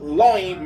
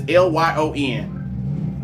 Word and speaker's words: Lyon: Lion, is it Lion Loin? It's Lyon.